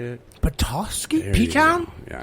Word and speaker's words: Petoskey: He's in Petitsky, or what? How do you say it? Petoskey?